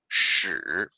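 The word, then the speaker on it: 豕: Most people probably, a lot of Chinese people don't know this, but it's pronounced it 屎.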